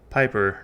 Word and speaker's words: Pieper: That's right, I'm switching to pronouncing it Piper now because that's how it was originally pronounced.